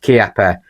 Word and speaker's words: Chiappa: a benchrest contender and yes I know it's pronounced kapper but you know I'm from the northern north